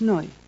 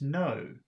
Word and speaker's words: neu: That's a hard sound at the end. I think the reason I'm having trouble with that is I don't quite understand that sound, but it's something like no.